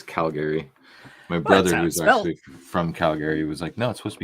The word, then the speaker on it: Calgary: throughout the two weeks now I noticed your pronunciation of Calgary do you take offense to people's in Calgary no no I just that's how I say it's Calgary my brother who's actually from Calgary was like